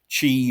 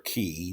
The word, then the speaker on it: chi: actually wrote a book about Chi or key depending on uh how you pronounce it uh I think either one is correct really uh this is